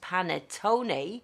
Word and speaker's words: panettone: is el panetto and i also found ayu pronounces panettone that's how you pronounce and if you translate